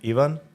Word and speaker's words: Ivan: one do you prefer in my country it's pronounced pronounced Ian Ian but English speaking people call me Ivan Ivan yeah so I